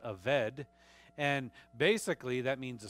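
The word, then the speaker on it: עֶבֶד: but it's it's pronounced the B sometimes it's pronounced as a V so it's a vet and basically that means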